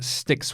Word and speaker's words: Styx: Wars 2 and in sticks which I never played or I think that's how you pronounce it is because it's like the River Styx shards of darkness never